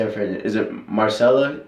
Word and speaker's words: Maricela: Is it Marcela? Maricela Cornejo.